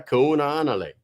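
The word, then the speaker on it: Kahaunaele: Kunanale. Yeah, she did do that. Maia Kunanale. She made me say it the way I'm saying it.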